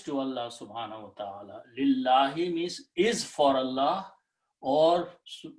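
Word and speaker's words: لِلَّهِ: So when lam and noon come together, we do not pronounce noon, we pronounce it as another L, lam, okay?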